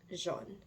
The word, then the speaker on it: jaunes: When we're talking about more than one thing, we're just going to add an s, and it's still going to sound like jaune, because s is silent.